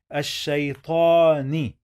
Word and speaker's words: الشيطان: In the first syllable that we have alif, this lam, remember, we are not gonna pronounce it. And then we have sheen with shadda. So we are gonna write double sheen here. Remember, always when we have shadda, we must pronounce the letter 2 times, as you see here.